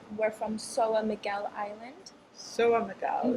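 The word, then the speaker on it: São Miguel: Soa Miguel. It's lovely the way it's pronounced.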